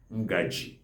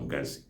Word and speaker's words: ngaji: All spoons are called ngaji or ngazi. Ngaji is the central Igbo.